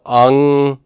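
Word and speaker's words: ἄγγελος: You know that the pronunciation of that first gamma is going to be nasally, but in terms of dividing, split it there. Okay, so angelos, angelos.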